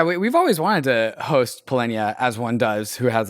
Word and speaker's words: Polynya: Turns out that is not how you pronounce Polynya's name. It's Polynya.